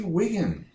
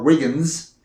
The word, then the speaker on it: Wiggin: And now the favorite of everybody, ladies and gentlemen, is Margie Wiggin, sitting right next to me. You don't want to call her Marge, because I think that or Wiggins, because it rhymes with Higgins.